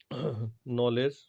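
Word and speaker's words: knowledge: तो इस तरह से जो है आप देखोगे नॉलेज, नाइफ, नो, एटसेट्रा, ठीक है। तो इसमें के साइलेंट होता है।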